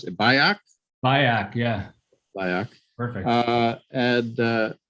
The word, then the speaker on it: Bajak: is it i should have passed your name pronounce it by act yeah perfect uh and uh we appreciate you